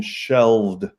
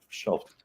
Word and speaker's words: shelf: I think I think you want to use the pronunciation shelv with a V not shelf shelf sh like like shellfish try to help lower